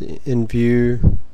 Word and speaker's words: Nvu: view site and uh it's pronounced in view here's some of the